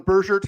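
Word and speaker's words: Bergert: And we're so we're going soft G on Bersert here. It's not Burger according to Jeff Sanders.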